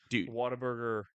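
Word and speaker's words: Whataburger: started in California and then it's branched out waterburger uh sorry waterb yeah that's how you say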